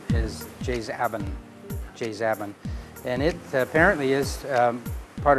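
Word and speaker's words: Jais Aben: Some people say Jaizaben, but the real pronunciation is Jaizaben, and it apparently is part of a local dialect.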